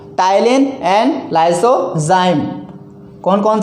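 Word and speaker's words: ptyalin: टाइलिन and lysozyme. कौन कौन से? टाइलिन and lysozyme, टाइलिन and lysozyme. यहाँ पे पी साइलेंट रहेगा। ठीक है, यहाँ पे पी साइलेंट है।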